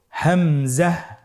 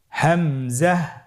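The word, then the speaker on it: ء: হামজা হরফটি উচ্চারণ ক্ষেত্রে বারিক করে উচ্চারণ করতে হবে এবং এখানে টেনে পড়া যাবে না, দ্রুত পড়তে হবে। আপনারা আমার সাথে বলুন হামজা। হামজা।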